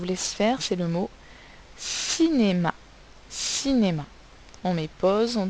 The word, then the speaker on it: cinéma: placer notre croix dans la case dans la syllabe où l'on entend le son donc alors je vous laisse faire c'est le mot cinéma cinémas ont mais pose en thrace nos carré